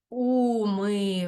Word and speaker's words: умиваєшся: особа однини так дивимося умиваєшся шся звучить як ся на кінці так ш ми не чуємо умиваєшся ми інколи не